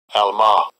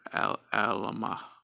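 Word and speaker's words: עַלְמָה: Alma. Alma. It is pronounced Alma or Alama.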